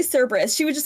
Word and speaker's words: Cerberus: kerberus for ex example there is no Soft C Sound in the Greek alphabet so like people will say cus but that's not how it's pronounced it's kerberus kir things like that